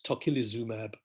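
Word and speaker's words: tocilizumab: helpful and that includes tokilizumab which if you remember the prime minister was trying to pronounce uh about a week ago and it's tokyo zumab mab there stands for monoclonal antibodies so if you see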